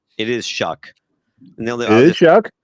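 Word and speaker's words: Shough: It is Shuck. It is Shuck? Think of like shucking corn. That's how. Yeah, it's Shuck. Okay. I know it's spelled like shog. Yeah. Shoff. Yeah, I thought it was show like dough.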